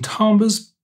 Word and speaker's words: timbre: You choose some timbres, some sounds.